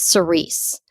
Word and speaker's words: Cerise: I meant to look up exactly how to pronounce her name. I think it's Cerise.